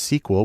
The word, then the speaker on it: SQL: the most common language there is SQL usually pronounced sequel which stands for structured query language because that's